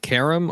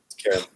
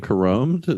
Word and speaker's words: carom: Is it carom or carome? I believe it's Carom. Harem. Carom. All right. Have you been saying carome every time?